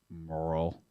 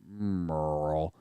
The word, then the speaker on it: Merle: and by the way Merle is spelled m-e-r-l uh Merle Garrett Merle an absolute gem but because it's just m-e-r-l we refer to him now and forever forward as Merle uh I I said